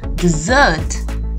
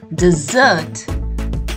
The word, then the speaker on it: dessert: dinner it is a dessert a dessert not a desert which is a sandy place without any rain it's a dessert the stress is upon the double s a dessert now we are looking